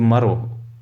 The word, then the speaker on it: Merv: When he returned home to Maro, pronounced Merv in English, which is found in Turkmenistan, and he unpacked his goods, he found that the pen was still with him.